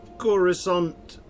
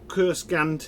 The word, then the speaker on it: Coruscant: All right, so we are in Coruscant, or Kurskant as the computer likes to pronounce it, or Imperial Center if